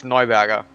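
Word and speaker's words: Neuberger: sticky with this thing it's noiberger no no burger yeah i said this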